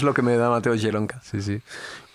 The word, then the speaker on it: Zielonka: ¿Cómo se escribe Jelonka? Jelonka como con Z-I-E. Jelonka, L-O-N-K-A.